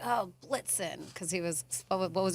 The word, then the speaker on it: Blitzen: Blicken. Say it again. Blicken. Why can't you say it right? What is it? Wait. In football. What is it? Blitzen.